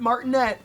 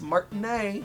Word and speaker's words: Martinet: couldn't even say his name right it's not martinette it's Martin a hi I'm Martinez and he wouldn't have